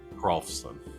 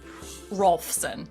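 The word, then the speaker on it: Hrolfson: So, But there's an H in front of Rolfson, but the H is silent. Rolfson. Rolfson, like Rolf.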